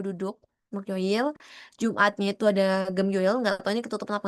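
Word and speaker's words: 금요일: Kenapa kok Gemyoil nggak Geumyoil gitu? Nah, jadi di sini itu memang secara latinnya adalah ya, tulisannya gitu. Cuma waktu dibacanya itu doang gitu. Jadi Geumyoil gitu, tapi Gemyoil aja gitu ya.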